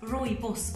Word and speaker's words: rooibos: Rooibos tea, pronounced rooibos, also known as African bush tea, is actually not a tea, but a bush which is grown in South Africa.